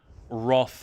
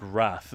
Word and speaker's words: wrath: If you want to be like a stickler, but I it's like wroth and wrath. Both are fine. I think Wrath is more correct, but Roth sounds cooler, so I say it.